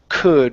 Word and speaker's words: could: good very good uh next up is could remember that l is silent okay so uh but